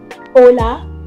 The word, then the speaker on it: hola: it is known as H, but it has no sound. It is silent. That's why it is hola and not hola.